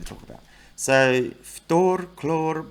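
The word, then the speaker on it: хлор: So with these, they just drop the "ine". So fluorine, well, actually fluorine's a bit different. Fluorine's Ftor. Chlorine becomes chlor. Bromine becomes brom. Iodine becomes yod.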